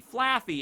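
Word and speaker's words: Flaaffy: It's like fluffy, Flaffy, and then Ampharos.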